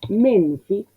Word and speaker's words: Menfi: Menfi, el acento adelante, tutta, el acento antes de la primera sílaba.